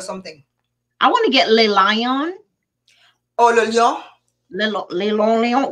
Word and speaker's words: Le Lion: Oh, so she gave you the pronunciation. Yes. Yeah. Thank you. Yeah. If I see you or go online and say Le Lion, I'll be like, no, it's Le Lion.